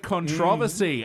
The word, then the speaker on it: controversy: So this caused a lot of controversy and Sorry, Also- a lot of what? also lots of- Controversy in New Orleans. Come on, man. New Orleans. You put emphasis on the wrong syllable.